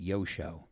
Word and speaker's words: Joscho: Yeah, it's spelled like Joshko, Joscho, and it's pronounced Yosho. Imagine if he doesn't show up for a gig. What happened? Yosho was a no-show.